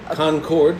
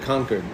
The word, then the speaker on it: Concord: conquered once uh pacification Concord like the great jelly just in case like the grapes cuz I thought you said conquered like like guess c